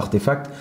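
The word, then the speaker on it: RTFKT: artefact effectivement qui c'est qui s'écrit d'ailleurs RTF KT mais qui se prononce à artefact donc c'est à aussi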